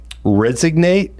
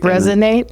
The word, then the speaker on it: resonate: Resignate? How do I say resignate? Resonate. Resonate. Resignate and resonate. So I have been saying resignate.